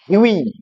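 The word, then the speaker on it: Hughie: Yuji I উচ্চারণ কিন্তু হুগি নয় উচ্চারণটা ইম্পর্টেন্ট এইচ ইউজি আই উচ্চারণ হল হই উচ্চারণটা কি হই আর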